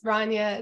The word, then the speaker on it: Rania: hello my name is Rania it's pronounced like Tanya but with an R um and I'm with